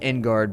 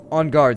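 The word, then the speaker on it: en garde: touche in on guard I almost said Inu guard because my brain was thinking phonetically but on guard sir we fight over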